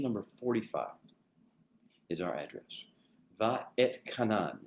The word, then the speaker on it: Va'etchanan: Va et Kanan. It's 3 kind of syllable or 4 syllables, 3 basic words, Va'et Kanan. It's said all together, Va'et Kanan.